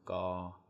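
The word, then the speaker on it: ก: And then this consonant makes the G sound. So gaw, gaw, like that.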